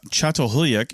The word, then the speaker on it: Çatalhöyük: the archaeology show and again we're talking about chat hulak in turkey and that is how you pronounce it it's got a whole bunch of